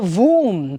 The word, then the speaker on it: womb: So it's not womb, it's not womb. So b sound anna we should not utter it. So that is silent.